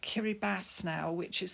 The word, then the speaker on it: Kiribati: It's called Kiribati now, which is spelt Kiribati.